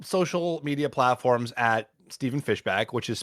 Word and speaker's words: Fishbach: Well, I'm on all social media platforms at Stephen Fishbach, which is spelled Stephen, and then fish like the animal, Bach like the composer.